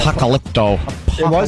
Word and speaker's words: Apocalypto: say that dumb name that's it you got Apocalypto Apocalypto really I got something right yeah it